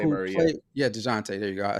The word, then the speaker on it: Dejounte: Devontae Murray, and then you got Chicago Dejounte who Murray. Yeah. played. Yeah, Dejounte.